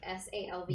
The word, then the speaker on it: salve: Also, someone told me that like SALVE This is one's pronounced Sav.